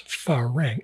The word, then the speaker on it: farang: And it's pronounced with the emphasis a little bit on the fa.